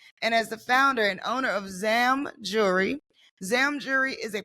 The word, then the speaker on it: Zam: Zam? Yeah, Zam Jewelry.